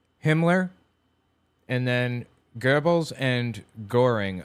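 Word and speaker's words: Göring: They Hitler on the left, Himmler, and then Gerbles and Goring on the right, or Gering, probably how it's pronounced. Guring is more accurate.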